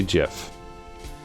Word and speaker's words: GIF: it incorrectly I say gif or no I say GIF sorry the Creator says GIF with it like the J gif oh so you say